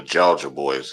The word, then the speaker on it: Jawja Boys: I just wanted to say, one of the groups he talking about is called the Georgia Boys. It's spelled very weird, like JAWJA Boys.